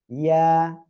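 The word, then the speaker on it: ياء: এ অক্ষরের নাম হলো ইয়া। ইয়া, এক আলিফ টান হবে।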